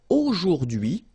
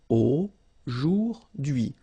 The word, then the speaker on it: aujourd'hui: H is not pronounced, so you only get this d'hui thing. Aujourd'hui.